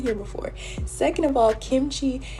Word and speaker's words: kimchi: before second of all kimchi is pronounced exactly how it's spelled like it's it's all